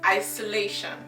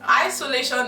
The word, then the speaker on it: Isolation: are spelled the same, but in German you pronounce it, guess, Isolation, because S in English is pronounced Z in German, and Tion is not schon, it is Tion. So it's pronounced Isolation, meaning is the same.